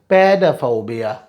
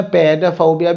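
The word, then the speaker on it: pedophobia: next word is पैडाफोबिया, पैडाफोबिया, इसके दो pronunciation है, पैडाफोबिया भी कहते हो, पीडाफोबिया, पैडाफोबिया, पीडाफोबिया, पैडाफोबिया, पीडाफोबिया,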